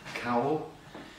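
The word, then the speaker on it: cawl: a traditional food called it's spelled c-a-w-l cowell it's um it's vegetables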